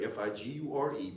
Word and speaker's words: figure: Your face, and what's unique about your face is spelled just like a figure. So your face is figure, figure, which is similarly spelled to figure, F-I-G-U-R-E, but figure.